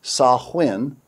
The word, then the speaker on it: Samhain: The Encyclopedia Britannica reveals, quote, Samhain, originally pronounced Samhain, Celtic for end of summer, one of the most important and sinister calendar festivals of the Celtic year.